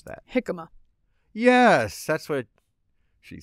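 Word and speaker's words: jicama: j i c ma a how would you pronounce that hikma yes that's what she said what about jaama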